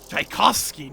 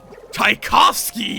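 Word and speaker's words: Tchaikovsky: Taikoski. No. Taikovski. Yes.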